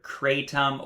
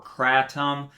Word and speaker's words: kratom: So first I want to address the pronunciation of the word kratom or kratom. Both pronunciations are legitimate in English. They are both in the Oxford Dictionary.